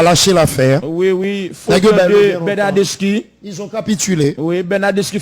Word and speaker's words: Bernardeschi: Oui, Bernardeschi. Pénalité pour FC Barcelone. Bernardeschi. Oui, c'est Bernardeschi. Oui. C'est 2 C pour prononcer chi.